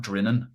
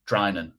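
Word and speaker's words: Drinan: You'd call that Dinan probably. probably, you know, it's almost like dinner, so you wouldn't call it diner. Um, and it's pronounced dran.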